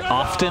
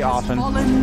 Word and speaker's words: often: Do you say often as well? Do you pronounce the T? Radiant's bottom tower You do? is under attack. Often. I'd probably say often. You say often? I say often, yeah.